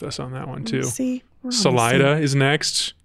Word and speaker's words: Salida: too Salida is next I've never heard anyone say Salita which is their other option I this one threw me a little bit as well because I have never heard anything but Salida yeah Salida is the one yeah that's a 93